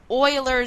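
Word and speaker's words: Euler: is what's known as Oiler number and that's how you pronounce it kind of sounds like Oilers Oilers number now Oiler number is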